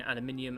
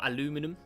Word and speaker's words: aluminium: It is a world rich in aluminium and magnesium, or aluminum, if you're American.